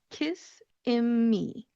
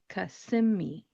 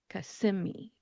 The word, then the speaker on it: Kissimmee: Florida, and it looks like it should be pronounced Kissimmee. Kissimmee. However, that is not how we're going to pronounce this word. Instead, we're going to call it Kissimmee. Kissimmee.